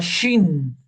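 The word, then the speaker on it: שין: Este puntito, si está arriba, acá a la derecha de la letra, es una shin. Va a sonar como shin, como si nosotros dijéramos shock, por ejemplo.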